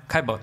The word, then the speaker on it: Caillebotte: How do you pronounce that? Caillebotte.